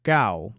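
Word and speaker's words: 九: The number 9 is pronounced gao, as in gao jia gao, for 9 dogs.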